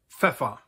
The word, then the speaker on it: Pfeffer: Der Pfeffer, pepper.